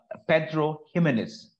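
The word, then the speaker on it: Pedro Ximénez: Pedro Jimenez or Pedro Ximenez. Ximenez is actually the English pronunciation, but if you look like a Spanish, then it is Pedro Jimenez. Jimenez, but it actually, if you can say, it's known as a Pedro Ximenez.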